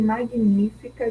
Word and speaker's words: magnífica: Magnífica, mesma coisa, né? O ni é a sílaba tônica.